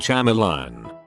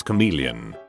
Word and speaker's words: chameleon: I was subbing for a teacher's aid one time, and she kept pronouncing the word Chamalion. The word was chameleon.